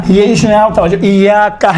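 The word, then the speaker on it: إِيَّاكَ: اس میں آپ توجہ، ایاکا ہے، ایاکا۔ اب یہاں پر ایاکا میں یہ کون سا حرکت ہے؟ چھوٹے حرکات ہیں یا بڑے حرکات میں سے ہیں؟ چھوٹا۔ آپ دیکھیں تلفظ کرتے وقت انشاءاللہ تعالیٰ یہ ملحوظ نظر رکھیں، ایاکا نعبد و ایاکا، کا نہیں ہے، کا نہیں ہے، ایاکا الگ ہے، آپ، نعبد ہم آپ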